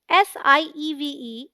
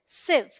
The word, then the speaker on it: sieve: SIEVE is one syllable and sounds like sieve, as in live. So the right pronunciation is sieve.